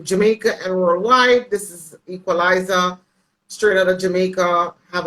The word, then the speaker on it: Equaliza: It's spelled with EQUALIZA, not the ZER, because you know that I want short. Yeah. It's not Equalizer, it's Equalizer. Yeah, So I don't know